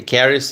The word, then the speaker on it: Caris: Okay, Caris is saying you pronounced it correctly. I think Paris, but with a C.